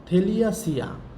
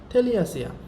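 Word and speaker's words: Thaliacea: একটা হচ্ছে অ্যাসিডিয়াসিয়া, নামগুলো খুব কঠিন, তারপরেও একটু উচ্চারণ করবো, বাংলায় উচ্চারণ লিখে দিয়েছি এই কারণে। অ্যাসিডিয়াসিয়া। সেকেন্ড হচ্ছে থেলিয়াসিয়া, সেকেন্ডটার নাম হচ্ছে থেলিয়াসিয়া।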